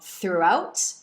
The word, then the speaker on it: throughout: Las palabras como throughout y through tienen un sonido de U larga.